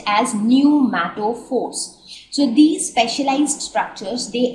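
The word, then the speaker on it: pneumatophores: structures are called new Force so this is pronounced as new Force so these specialized structures they arise from the root so they develop from root and they act as respiratory organs so these numato Force are the respiratory organ for these plants now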